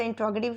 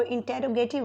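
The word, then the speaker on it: interrogative: और क्वेश्चन है कि कुछ लोग जो हैं वो इंट्रोगेटिव की जो उनकी एब्रीवेशन होती है या उनकी जो प्रोनाउंसिएशन होती है वो इसको इंटेरोगेटिव बोलते हैं। सो मेरी जो यहाँ पे प्रोनाउंसिएशन है वो इंट्रोगेटिव है। सो I also prefer here इंट्रोगेटिव।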